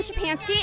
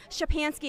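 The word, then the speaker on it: Szczepanski: break the silence my name is chapanski and my youtube channel is the polish american brotherhood my name is spelled shipanski is s like sam z like zebra c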